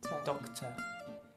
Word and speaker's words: doctor: Como hemos visto, solo se pronuncia doct. Yeah. El estrés está al principio. Yeah. Y el ER es simplemente doctor. Y ni siquiera pronunciamos la R.